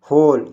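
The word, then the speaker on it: whole: द होल, ये होल में W silent है इसलिए हम इसको क्या पढ़ रहे हैं? होल यानी पूरे।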